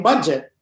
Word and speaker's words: Budjette: my mom is adject so it became budget and that's why it's spelled with a j and a double e so because my mom's